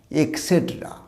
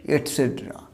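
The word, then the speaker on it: et cetera: তোমরা এর কিন্তু সঠিক উচ্চারণ হচ্ছে এটসেট্রা, তোমরা অনেকের ভুল উচ্চারণ করো কি এক্সেট্রা, না এর উচ্চারণটা এক্সেট্রা হবে না, উচ্চারণটা হবে এটসেট্রা।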